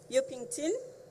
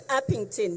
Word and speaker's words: Upington: greet the community of um yokington I'm not sure whether I'm pronouncing the area correctly it's upington yes in terms of ensuring